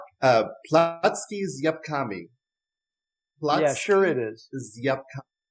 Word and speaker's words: Placki z jabłkami: So how do we pronounce this? So it's apple pancakes. And in Polish, it's Placki's jabłkami.